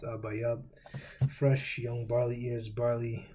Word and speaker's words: Abib: Now, we should already know that Abib is not the proper pronunciation. This is the Yiddish pronunciation. But if you would break it down, the Paleo-Hebrew pronunciation, the real Hebrew, because Yiddish didn't come about until the 10th century, you get Abayab.